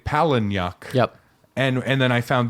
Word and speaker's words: Palahniuk: How is it actually pronounced? I don't know. Palahniuk. Palahniuk.